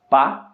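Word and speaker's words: pas: temos ali a palavra pá que significa não ok e ela possui um s no final que é mudo portanto a pronúncia correta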